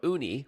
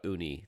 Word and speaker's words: Ooni: your pie well to learn what's new from uni one of the bigger names in this space